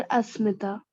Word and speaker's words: अस्मिता: अच्छा एक बात बता, तेरे नाम का प्रोनाउंसिएशन क्या है? इट्स अश्मिता और अस्मिता? सर अस्मिता। अस्मिता, okay, it's अस्मिता, right.